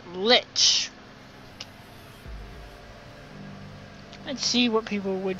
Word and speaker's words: lich: Not lick, as Zorback would pronounce, it's lich.